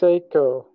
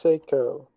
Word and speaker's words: Psycho: So far, Bray is pronounced Seiko. Bray is pronounced Seiko.